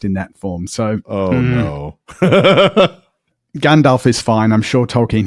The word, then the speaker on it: Gandalf: Oh, in Old Norse, it actually would have been pronounced Gandalf. Well, I mean, the Old Norse in the nominative would be Gandalfur with an R at the end. But yeah, it would have been pronounced as a V, at least in that form.